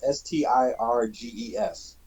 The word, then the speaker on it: Stirges: Sturgis. They're called Sturges? sturges. Yep. Like in South Dakota? Well, and pronounced the same way, but Stirges. G-E-S.